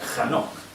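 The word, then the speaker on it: חנוך: Enoc en hebreo se escribe con K, J, este es el inicio, KJ, Anok, o sea, Hanok.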